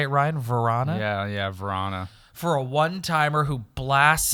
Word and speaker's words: Vrana: Yeah, Vrana.